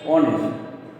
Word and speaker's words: honest: But we pronounce it as honest, not honest. That means here H is silent.